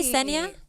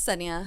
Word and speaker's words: Sonya: Do you say Senya? Yeah, it's Sonya.